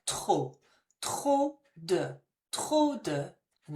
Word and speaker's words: trop: Be careful your pronunciation here. The P is not pronounced, so it sounds like trop.